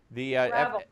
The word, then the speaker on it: Ravel: They have is it Ravel? Ravel. The Rhymes with unravel.